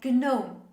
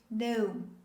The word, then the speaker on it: gnome: full of surprises it's not pronounced as gnome the correct pronunciation of this word is no say with me no in this word the letter g is considered silent we don't pronounce the